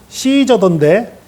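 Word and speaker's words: Caesar: 어, 영화에서 보니까 로마 황제는 시저던데 예, 그 철자가 C로 시작을 해요. CA 하고 쭉 나가는데요. 그걸 발음을 미국에서는 시저라고 발음을 합니다. 그러나 이탈리아 쪽 그 라틴어 발음에서는 까이사르 제가 정확한 발음은 아니지만 대략 그런 발음이에요.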